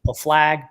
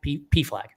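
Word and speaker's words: PFLAG: Is it pronounced P flag or is it flag? P flag. Yeah, you got it.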